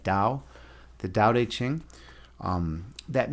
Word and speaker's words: Tao: It's pronounced with a d. Dao.